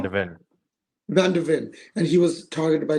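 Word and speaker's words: van de Ven: Am I pronouncing it Van wrong? de Ven. Van der Ven, and he was targeted by Liverpool as well,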